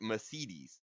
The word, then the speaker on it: Mercedes: I've always said Mercedes, but you always say like Mercedes. So Yeah, so in Germany we pronounce the second E.